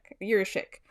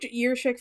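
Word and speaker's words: Jiříček: Jiricek. Solidifying their future at center and at right-handed D. Former EOTP prospect writers David St. Louis, who we love, and Mitch Brown, who's at EPR now, are huge Jiricek fans and think that he's the second best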